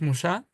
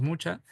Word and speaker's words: Mucha: Se pronuncia Alfons Musá, eh, aunque le digamos mucha.